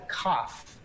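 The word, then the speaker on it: כף: It's called a kaf. Like if you were going to cough, it's called cough.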